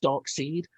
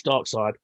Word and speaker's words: Darkseid: side looks very good i always feel like it should be pronounced dark seed but it's dark side uh dark side looked